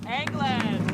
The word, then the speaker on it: Englund: was played by Robert Englund over eight movies and yes it's pronounced England if you don't believe me just look at this clip from New Nightmare let's say hello to Robert Englund told you but he